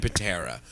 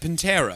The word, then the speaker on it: Pantera: I think them in Patera hmm do you like how I pronounce that Pantera yeah it's like Panera Bread interest yeah funny they're